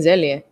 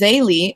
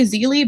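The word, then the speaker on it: Zélie: Whoops, I was saying Zelia. My bad. Yeah, me too. It's Zaylee. Some people say Zeely, but I'm gonna go with how the author pronounced it.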